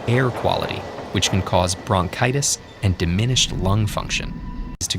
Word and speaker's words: bronchitis: it's this one and you pronounce this e as i so it's going to be bronchitis okay so good let's